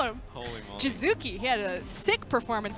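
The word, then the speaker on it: Jiizuke: Well, it's Jizuki or Jizuke, but I definitely pronounced it wrong.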